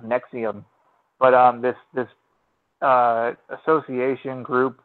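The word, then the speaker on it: NXIVM: called n X IBM so it's called it's pronounced nexium but this this association group corporation whatever you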